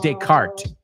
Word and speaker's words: Descartes: We say Descartes. Las S's no las pronunciamos en inglés.